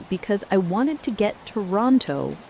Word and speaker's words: Toronto: Not Toronto, but Toronto, smooth and clipped the way the locals say it.